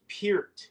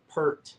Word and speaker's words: Peart: Pier from Rush and it's pronounced Pier for all of you people out there not per per is p ER